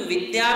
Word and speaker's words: विद्या: तो विधा में हमें वी के ऊपर जोर नहीं देना, किंतु विद्या में वी के ऊपर जोर देना पड़ता है। क्यों? क्योंकि आगे संयुक्त अक्षर है।